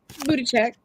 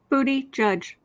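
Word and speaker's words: Buttigieg: sweet okay so at 41.50 um let me booty check did I say that right because you know my my pronunciations are horrible for everything booty judge but a judge so does Buddha check okay that's fine mayor P I'll be good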